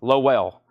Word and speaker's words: Lowell: merchandise in her sleeve it's Lowell one syllable Lowell Lowell well that's that don't